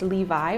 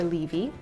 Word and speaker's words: Levi: Latin and let's see it can be pronounced Levi or levy I think depending how you want to do it and